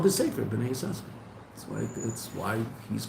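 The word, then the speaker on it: בני יששכר: Well, it's called B'nai Yisachar, even though there's two sins, we only pronounce one.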